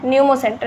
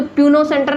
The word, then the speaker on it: न्यूमो: अब कुछ लोग बोलेंगे इधर पी है तो प्यूनो सेंटर नहीं, प्यूनो नहीं, पी साइलेंट होता है, तो क्या हो जाएगा?